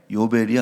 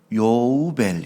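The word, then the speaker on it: יובל: 문자가이 히브리온데 여기 보면 요우벨 한번 따라서 해봅시다 여우별 요 벨이 아니고 요우벨 이렇게 여우별 그래서 여러분 그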